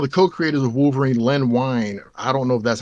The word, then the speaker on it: Wein: was one of the co-creators of Wolverine, Len Wein. I don't know if that's how you pronounce his name, but I think it's Wein.